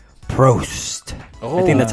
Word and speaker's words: Prost: Prost. I think that's how you say it. Yeah. Dang, in Germany. I like it. In German. Prost.